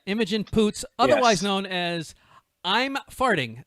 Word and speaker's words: Imogen Poots: picked this actress name emoji i don't know if i'm pronouncing the game right emoji imogen boots you'd like to say your last name yeah imogen poots otherwise known as i'm